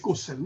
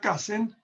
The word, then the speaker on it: Cousin: Me refiero al profesor Antonio Cousin, pronunciado un poco a la inglesa, se escribe Cousin, ¿no?